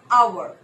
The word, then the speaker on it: hour: The actual pronunciation of this word is hour. Hour. Just one syllable.